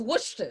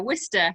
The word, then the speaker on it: Worcester: england she lives in the city one cannot pronounce that is wonderful i was like oh she lives in waters and she's like no it was worcester i was like wait whistle that's a really